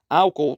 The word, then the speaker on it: álcool: com a semivogal yod álcool temos iato separam-se esse o álcool álcool os dois os têm força os dois os têm